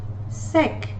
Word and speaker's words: sec: the examples for these sec sikh sikh shif shif the letter f which is final is pronounced the letter c which is final is pronounced the letter l again